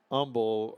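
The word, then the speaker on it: Humble: high school in uh Umble outside of hou hon Umble Texas uhhuh and I know I don't I don't pronounce the h in Houston or Umble but that's just me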